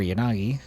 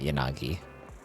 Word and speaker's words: Yanagi: Isn't the way to do it in Japanese is the A should be pronounced the same both times and they should both have like the same level of time spent on each syllable.